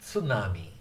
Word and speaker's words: tsunami: In fact, most Americans, instead of saying tsunami, they'll say tsunami. They'll say tsunami. but it's actually tsunami, tsunami, tsunami, tsunami. The Japanese pronunciation is generally pretty flat. Tsunami, tsunami, tsunami, tsunami, tsunami, tsunami.